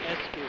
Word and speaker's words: Askew: Askew. Askew. It's pretty much like the word Askew, isn't it?